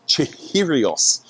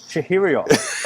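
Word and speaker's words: Chihiros: factory recently and I I'm going to get this wrong but I believe it's chiros chiros all right you really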